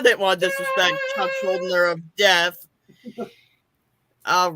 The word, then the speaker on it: Schuldiner: Chuck Schuldiner. Schuldiner. Okay. Yes. I knew I wasn't going to do it right. I had to make sure. Because I didn't want to disrespect Chuck Schuldiner of death.